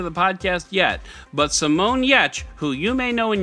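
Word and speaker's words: Giertz: made it into the podcast yet but Simone yecchh who you may know in your head as Simone guy years but it's actually pronounced yecch who is the queen of robots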